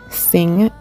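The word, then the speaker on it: Singh: So the B would be for, and then you'll notice that the sing in embracing is spelled S-I-N-G-H, and that's my last name.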